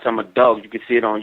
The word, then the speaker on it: IMMADAWG: Last year, my first video that came out is I'm a Dog. It's spelled IMMADAWG. That's 32 shots. I'm a Dog.